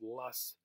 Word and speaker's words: loess: - what are called Loess Hills and it's pronounced Las it's like a German word because this is where